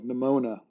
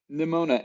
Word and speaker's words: Nimona: It's funny because I can't hear the word metal without thinking of Nimona.